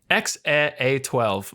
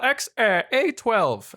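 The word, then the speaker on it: X Æ A-12: E a 12 yes so the AE sound is actually like a like that's how you say it yeah so it's like X a a 12 X a 12 Musk yeah yeah basically or what yeah cuz it's like a it's like a long a sound but then it's like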